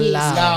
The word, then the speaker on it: Lau: The House of Law or Lao. It's House of Law, yes.